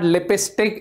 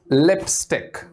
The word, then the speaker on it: lipstick: remind you the mac the the mostly wrongly pronounced word in english lipstick no it's not lipistic it's lipstick so this little baby here having lipstick and